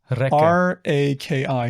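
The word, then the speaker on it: rakı: R A K I, raki.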